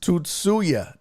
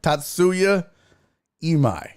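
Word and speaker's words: Tatsuya Imai: This dude said, "I can help you pronounce um I's name correctly. Sing the hook from Prince Little Red Corvette, but replace the words with his name." So, it's Tutsuya.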